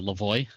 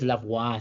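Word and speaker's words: Lavoie: It's uh, Lavoy. Yeah, I was going to go with Lavois. So, you they're perfect. Happy I avoid I also accept Lavois.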